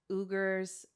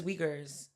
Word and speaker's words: Uyghurs: It targets minority groups in China, specifically Tibetans, Uyghurs. I'm not sure how to pronounce that word, but I think it's Uyghurs.